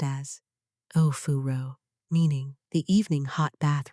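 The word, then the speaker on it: お風呂: The ninth thing, Ofuro, pronounced as Ofuro, meaning the evening hot bath ritual.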